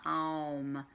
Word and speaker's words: om: helpful to know that when they're chanting ohm it comes a little bit more in the form of a um ohm and not just ohm om even though it's spelled om so that might be